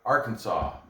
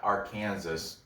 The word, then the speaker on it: Arkansas: to call it bryce mitchell fighting out of arkansas it's not our kansas ebays it's called it's pronounced arkansas but anyway because he goes in his show he was like uh bruce mitchell out of our kansas if it's i don't know why did they